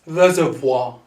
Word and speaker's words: reservoir: spell this so that's reservoir reservoir so it's even french inspired reservoir that's how you spell